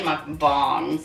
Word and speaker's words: mukbang: Oh, North Americans call it mukbang, but I don't know. I looked it up and it said mukbang, so we'll just go with that.